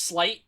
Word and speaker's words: Slyt: It is Slight. Okay, it's SLYT. Don't like that name. That's just not a... Even though it's pronounced Slight, when I see it